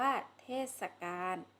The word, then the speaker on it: เทศกาล: ฉันท์ กาพย์ กลอน ช่วง เทศกาล ค่ะ อ่าน ว่า เทศกาล หมาย ถึง คราว สมัย ที่